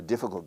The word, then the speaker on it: difficult: This is a difficult game. Difficult. Escucha la pronunciación. Difficult. Habré oído 3000 veces difficult, cult, ese sonido castellano, cult, oculto, doesn't exist in English.